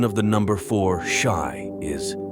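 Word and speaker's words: し: of the number four Shai is is similar to the word for death in Japanese so anything associated with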